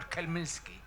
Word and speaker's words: Khmelnytsky: How do you pronounce Khmelnytsky or Khmelnytsky?